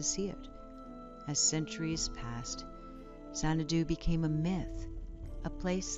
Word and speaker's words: Xanadu: The most remarkable of all, though, was Xanadu, pronounced Zhangdu, the palace of the great Khan.